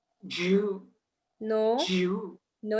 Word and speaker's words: je: So we say je. Jew.